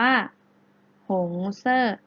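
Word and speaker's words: 红色: นะ คะ หงส์ เสื้อ แปล ว่า มี สี แดง สี แดง ได้ ภาษา จีน แล้ว จะ ออก เสียง ว่า หง เซ่อ เก่ง มาก ค่ะ อัน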